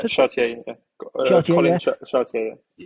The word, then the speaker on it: Chartier: How do you pronounce Yeah, it? Chartier.